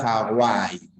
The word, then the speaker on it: Hawaii: un nombre ya castellanizado Hawaii Recuerda que la B doble o la W con esa suena como una u por lo tanto sí habría Tritón no igual que en Walter al diptongo en Hawaii